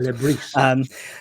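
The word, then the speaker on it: Le Bris: Apparently, he pronounced the S's. I was told Lebris.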